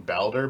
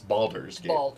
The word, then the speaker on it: Baldur's: is it is it I think I was saying bowder but it's balder's balder balder like Boulder like more bald than another person yeah okay yes uh